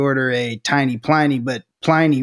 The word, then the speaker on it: Pliny: a tiny Pliny, but Pliny rhymes with piney, which is that big hop-forward flavor that I think a lot of people encountered for the first time in that era.